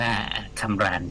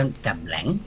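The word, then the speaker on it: Cam Ranh: ตั้ง ไว้ นะ ฮะ ที่ ที่ เรา อ่าน ว่า คำราน คำราน คำราน ออ ค่ะ ฐา ทัพ เร คำรา แต่ ถ้า อ่าน แบบ เวียดนาม ต้อง จ่ำ แหลง จ่ำ แหลง ค่ะ นะ ฮะ ไม่ ใช่ คำราน ค่ะ อ่า กำรง นะ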